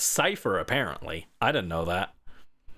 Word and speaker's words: Cipher: at those old VODs, I kept calling it Kyifer because I didn't know how to pronounce it. I was like, "What?" Oh, yeah. Teams team Kyer. But no, it's Cipher apparently.